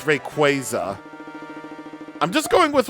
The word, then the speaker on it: Rayquaza: But I remember that they did actually specifically make an article about most commonly mispronounced Pokemon names or something. And people have been saying like stuff like Wayquaza Wayquaza wrong or something.